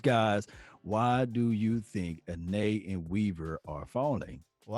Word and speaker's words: Anae: They said it's pronounced Anae.